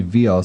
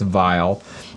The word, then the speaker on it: Vial: written in python yes vial is pronounced like vial okay yeah i was hoping it would be veal so i could buy some veal but i guess it's vile any good tutorials not